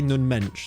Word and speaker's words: Nuno Mendes: jordi alba replacement for nuno mendesh i i i need to say nun mensch that's just exactly how you have to say his name i think kim pembe